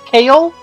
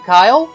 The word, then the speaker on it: Kale: medalist I've been told I've been saying this dude's name wrong this entire time apparently it's kale I don't know why I keep calling him Kyle it's kale it's obvious it's kale I'm just stupid but